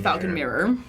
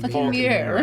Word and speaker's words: Phaulkonmere: Down to the Falcon Mirror. All right. I wrote Falcon Mirror, Southern Mirror. It is spelled like crazy spelling. It's like PH. Falcon. PHAULKONMERE. Huh. Falcon. Falcon Mirror.